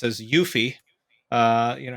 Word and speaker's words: UEFI: of one of the UEFI or what I'll pronounced as yuffie uh you know how the industry heads would pronounce it right um it's part of the yuffie standard if you will part of the specification